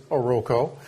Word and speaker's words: Oroco: we all pronounced it is oroco my name is uh I am